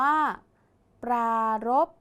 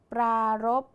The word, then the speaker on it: ปรารภ: ไป ดู กัน ค่ะ ปรารภ คำ ว่า รบ ออก เสียง พยัญชนะ ท้าย เหมือน บ ใบ ไม้ ใช่ ไหม คะ แต่ มี พอ สำเภา เป็น ตัว สะกด ดัง นั้น คำ นี้